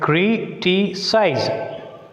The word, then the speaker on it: criticize: So here, criticize. Size is the one syllable, T is the one syllable, cri is the one syllable. So as it is a trisyllabic word, anti-syllable is the first syllable. That's why you put stress on the C.